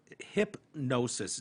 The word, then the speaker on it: Hypgnosis: Hypnosis, it's spelled weird, Hypgnosis, Hypnosis, announced the purchase of half the copyright and income interest for his 1,180 songs, including Heart of Gold.